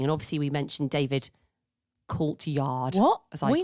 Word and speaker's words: Coulthard: So we know somebody who does a bit of like F1 driving, and obviously we mentioned David Coulthard.